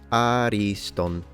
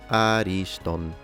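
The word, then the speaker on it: ἄριστον: We have the word ariston. Please note that ancient Greek is a pitched language, as opposed to modern Greek, which is a stress-based language. So once again, ariston.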